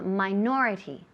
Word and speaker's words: minority: minority perfect Meen so minority minority the accent the emphasis falls on the second syllable minority minority in common